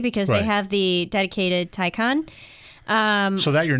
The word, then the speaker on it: Taycan: Well, pronunciation, Taycan, Thai convention.